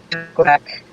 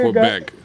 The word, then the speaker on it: Quebec: Just in case Canadians watch and want to yell at me, Quebec. Quebec. Quebec. Quebec. You hear that, America? We've been pronouncing it wrong all our life.